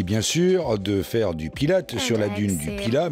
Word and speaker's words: Pilat: sûr de faire du pilates sur la dune du pilat même si le t2 pilar ne se prononcent pas et qu'on dit pied